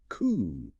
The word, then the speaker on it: coup: The silent letters here are just so glaring. A final P and an E. Exactly. Straight from the French. The final two letters are completely silent, leaving a single closed off vowel sound. C. Ooh. The difficulty arises if the speaker tries to angllicize it, maybe sounding out the P.